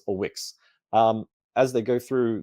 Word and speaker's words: Wix: about a backstory there to pronounce the name is just Wix our first robot doesn't have a name doesn't care about names doesn't need a name uh but it's written w-i-x so what X or